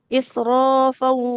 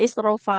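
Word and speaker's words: إسرافا: Jadi dia karena fa-nya berharokat tanwin, nggak dibaca isrofa ya, nggak panjang. Tanwin bertemu waw jadinya idgham bi gunnah malapur ditahan di huruf wawunya. Israfan wa bidaron, seperti itu.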